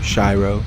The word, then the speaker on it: Shiro: a few weeks ago it's called Shiro not Shiro is pronounced with it I sound not an e sound so we learn that makes sense scoff a cool name Shiro it's good to talk